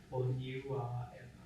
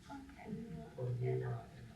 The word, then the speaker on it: Pōniuāʻena: I think for everyone, for when we do the interviews, how do you pronounce the name correctly? If I just said it, together, Pōniuāʻena. Pōniuāʻena.